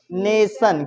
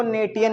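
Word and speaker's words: nation: टी आई ओ एन इसको क्या पढ़ेंगे नेशन क्या पढ़ेंगे इसको नेटिन नहीं पढ़ेंगे है ना जैसे अगर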